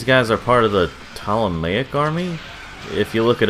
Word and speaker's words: Ptolemaic: Apparently these guys are part of the Ptolemaic army. If you look it up, you're gonna have to spell it with a P, because the P is silent because English.